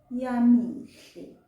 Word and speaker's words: Yamihle: But once it's now a person's name, we pronounce it as Yamihle.